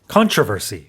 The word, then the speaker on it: controversy: 이렇게 앞에 강세가 있고 영국에서는 controversy. 두 번째 음절에 강세가 있어요.